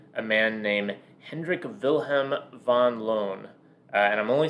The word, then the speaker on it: Van Loon: man named hendrik vilhm Von loone uh I'm only saying Von loone um because uh Rebecca you found out that the Dutch pronunciation is Van loone but the English pronunciation is Van Loon and he said it